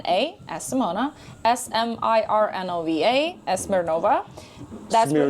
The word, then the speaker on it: Smirnova: S M I R N O V A SNOVA. That's Smeirnova. Smirnova because I was pronouncing Smeirnova. I know. But that's okay. But it's Smirnova. Yeah, like vodka. Smirnov.